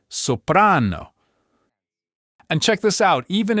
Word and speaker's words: soprano: The vast, vast majority of Italian words put the stress on the second to last syllable. This is also called the penultimate syllable. This single simple rule is what creates that classic Italian flow. Just listen for it. It's not gelato. it gelato, not soprano, it's soprano.